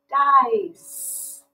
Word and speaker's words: dice: So this C is going to say S. Now another thing I noticed about this word right away is it's got a magic E at the end. So that means it's going to give the I the power to say its name. So this word is going to say dice, dice. And that's the soft C sound.